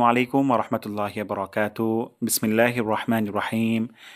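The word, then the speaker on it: عليكم: আসসালামু শান্তি বর্ষিত হোক আলাইকুম আইন গলার মাঝখান থেকে উচ্চারণ করব আলাইকুম বলবো না আলাইকুম বলবো আলাইকুম আলাইকুম আপনাদের উপর আলাইকুম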